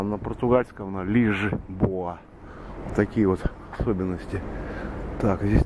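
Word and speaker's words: Lisboa: Лишбоа читается, Лиссабон. Калининград, Берн, Лишбоа, Парис или Пари. Как я же почему говорю, что если на английском прочитать, будет Парис. На французском Пари. А вот Лисбоа написано, это на португальском.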